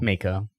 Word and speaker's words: Mako: In a lot of ways though, like, is it Mako or Makio? Like Mako? Mako. That's how they say it in the remake, at least.